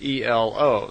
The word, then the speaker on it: Elo: And semi in their language is E-L-O, so Elo.